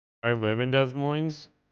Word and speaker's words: Des Moines: Both L Both S's are silent. Look it up. I looked it up. It's Des Moines.